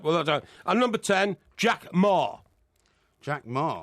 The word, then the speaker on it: Jack Ma: And number 10, Jack Ma. Jack Ma. As in, tell me ma, I don't want no tea, no tea. What? We're going to Wembley. Tell me ma. It's spelt M-A.